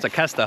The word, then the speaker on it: Tequesta: It's pronounced Tequesta, huh?